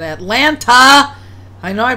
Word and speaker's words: Atlanta: fact that I said Atlanta I know I pronounced that correctly the other they should well excuse me I live in Georgia you're supposed to pronounce it Elena without all the t's without Elena I live in Atlanta